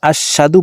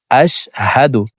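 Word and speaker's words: أشهد: আমরা এখানে কমন একটি ভুল করে থাকি এখানে আশশাদু পড়ে থাকি এখানে আশশাদু হবে না হামজাশিন জবর আশ হা জবর হাফের উচ্চারণ হলকের শুরু থেকে পড়িতে হয় আশ হামজাশিন জবর আশ হা জবর হা দাল আলপেশদু আশহাদু আশহাদু হবে না আশহাদু আশহাদু আল্লা ইলাহা আশহাদু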